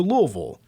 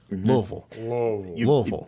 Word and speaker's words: Louisville: Louisville and she's like do not say Louisville or anything remotely close to that kind of have to get lazy with the pronunciation loisville like you have marbles in your mouth but I like Z